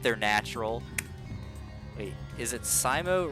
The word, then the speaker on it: Scimo: But the intended pronunciation was Scimo, like S-C-I, as in like science fiction, but, or like whatever,